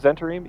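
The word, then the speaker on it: Zhentarim: Gentarim. Is it the Gentarim or Centurim. Okay. Zentarim? Zentarim?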